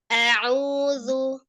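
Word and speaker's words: أعوذ: Jadi bacanya nggak gini. Itu kan A-nya jadi panjang ya. Hamzahnya satu harakat jadi langsung a'udzu. Nah, jadi au gitu enggak au. A saja.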